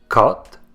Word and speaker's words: cote: quand on le prononce sans accent circonflexe cot c'est le son du haut ouvert la bouche est plus ouverte quand on le prononce C notez aussi que